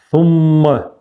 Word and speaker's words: ثم: Сумма. Кончиком языка между зубами. И удвоенное мим.